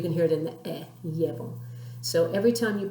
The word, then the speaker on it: llevo: If you were to pronounce the verb llevo, like I'm taking something, you can hear, hopefully, the accent on the E, even though there's no written one.